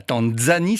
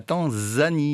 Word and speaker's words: Tanzanie: Par exemple, on entend aussi beaucoup de gens dire la Tanzanie, alors que c'est pas la Tanzanie, c'est la Tanzanie. Il n'y a pas de D avant le Z.